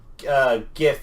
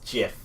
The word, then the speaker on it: GIF: Apparently, supposed to be pronounced as GIF. It's not. Not when it's The Craig came out and graphic. said No, the G is supposed to be pronounced like a J, which unfortunately is, according to Mum, isn't a uncommon thing.